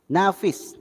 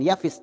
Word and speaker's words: Nafis: yang ke yang keempat Nafis bukan bukan yafis Nafis Nafis Nafis yang kelima kita buat